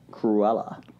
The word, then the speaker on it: Cruella: How was that pronounced? Cruella.